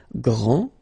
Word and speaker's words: grand: This final D is not pronounced. Okay, so grand, and then the feminine form, grande.